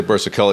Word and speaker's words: Burzichelli: I say Burzichelli because that's how she pronounces the last name.